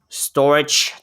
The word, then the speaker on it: Storj: let's go over to storage token which is spelled at store j okay um let's see